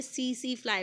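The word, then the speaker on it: tsetse fly: टी इसमें silent है तो इसको हमने सी फ्लाई पढ़ना है।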